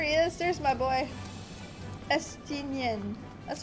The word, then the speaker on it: Estinian: Estinian. That's how it's pronounced.